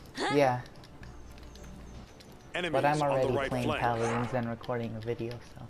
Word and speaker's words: Paladin: Paladin. You could call it Paladins if you want, but you'd just be pronouncing it wrong.